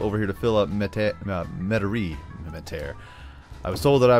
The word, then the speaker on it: Metairie: When I start putting some low density residential over here to fill up Metairie, I was told that I was saying that correctly, and I was like, big win for Diesel.